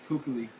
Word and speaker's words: Kuechly: Kuechly.